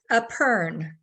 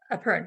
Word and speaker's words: epergne: Epergne. Epergne, but it's spelled E-P-E-R-G-N-E.